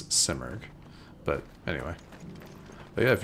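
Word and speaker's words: Simurgh: watching let me know I think it's actually pronounced simerg not similar it's simerg but anyway but yeah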